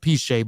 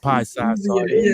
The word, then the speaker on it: Piesie: you know I choose the name uh piche or what I say you know it's it's pronounced piche but I've been mispronouncing it for so long and everybody just say pie sauce everybody and um you know I did my